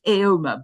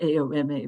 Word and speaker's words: AOMA: school here in Austin, pronounced aoma, by the way, not a ma, but aoma.